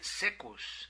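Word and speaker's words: caecus: Esta palabra proviene del latín, donde se escribe saecus con C de Carlos, pero se pronuncia secus, que quiere decir ciego.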